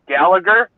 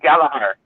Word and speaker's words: Gallagher: would say this last name is Gallagher, where in Ireland they pronounce it Gallagher.